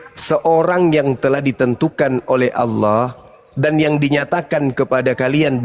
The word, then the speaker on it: Allah: Itu bacanya apa? Allah.